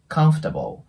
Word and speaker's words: comfortable: なので、comfortable のように発音して